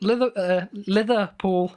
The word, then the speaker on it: Liverpool: they're gonna Liverpool it you're pronouncing liver with like a th instead of a V yeah Oh sounds really